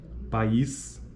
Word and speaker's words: país: uma sequência de vogais durante a articulação de duas vogais em sequência como na palavra país cada vogal ocorre em uma sílaba distinta e cada vogal apresenta a qualidade vocálica específica específica neste caso dizemos que é um hiato É nesse caso da